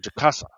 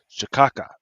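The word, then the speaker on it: cachaça: There's this drink is called Jaka or Jakassa. supposed to be pronounced chicasa, but on the joint says shaka, right?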